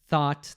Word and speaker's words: thought: are o sound and then thought that's a ah sound thought yeah exactly and Ethan